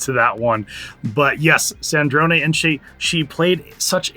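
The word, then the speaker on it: Sandrone: And really, it's Sandron. It's gonna take me just a little bit to get used to that one. But yes, Sandron.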